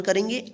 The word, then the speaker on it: car: आ उच्चारण नियम का, कि जब किसी वर्ड में ए के बाद यानी लास्ट में ए के बाद अंत में आर रहे तो इस ए का क्या उच्चारण करेंगे, आ उच्चारण करेंगे, ठीक है।